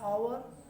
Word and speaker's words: hour: एन का प्रयोग Wavell से करते हैं, या जहाँ साइलेंट एच होता है, जैसे एन आवर, HOUR आवर, एन आवर, an honest, etc.